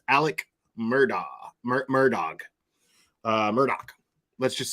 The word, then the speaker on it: Murdaugh: looks like it's says it looks like his name is Alex murdaugh uh but I happen to know that it is not pronounced that way it is pronounced Alec murder murdog uh Murdoch let's just say Murdoch